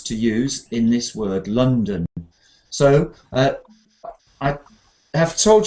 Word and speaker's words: London: second sound is uh so the city name is l l l l London like this London London so London to train